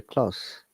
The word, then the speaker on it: close: the conversation to a close. Let's draw the meeting to a close, gentlemen, said the chairperson. He lives at 83 Baker Close. Now, when it is adjective, the close sounds like S again.